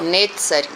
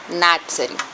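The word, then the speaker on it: נצרים: Uma vez que no hebraico moderno eles usam a letra E, né? Netzarim. E no hebraico antigo nós não temos isso. Então, Natzarim. Natzarim seria o plural de Natzar.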